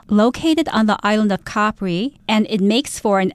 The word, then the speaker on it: Capri: That's how most people pronounce the name of this, but Helen, you happen to know some Italian, and in Italian, it's actually pronounced Capri. Am I correct? Yeah, that's true. But, you know, a lot of Italian words, when they become anglicized or when they become adopted into the English language, actually changes pronunciation. So I guess both are acceptable.